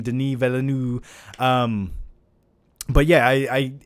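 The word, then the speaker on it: Denis Villeneuve: with a great director like and i always mispronounce his name denis velanu um but yeah i i it's in good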